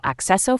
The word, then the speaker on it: acceso: The C-C combination produces the sound kes when followed by E or I. For example, acceso for access.